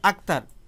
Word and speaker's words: আক্তার: এখানে ভালোভাবে খেয়াল করে দেখুন, এখানে ক এই বর্ণটি উচ্চারিত হয়েছে, ত এই বর্ণটি উচ্চারিত হয়েছে।